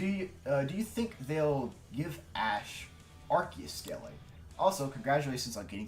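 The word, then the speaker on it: Arceus: I I'm just going It's just Archus. It's just Archus though. Yeah. Um yeah. Yeah. I thought it was Arus.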